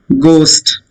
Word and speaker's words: ghost: Ghost. Ghost is a spirit. Generally we say. So many people believe in ghost stories. So H is silent.